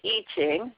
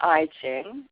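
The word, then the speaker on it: I Ching: the iching and then it's pronounced iching not iing uh the eing is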